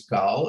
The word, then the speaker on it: Gal: profile gal of my first name is gaul it means an israeli hebrew a wave in